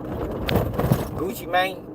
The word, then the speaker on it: Gucci Mane: Gucci man that's how that's how you say it.